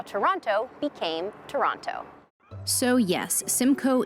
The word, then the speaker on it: Toronto: tourist is to say Toronto locals say Toronto they don't pronounce that second T you can even get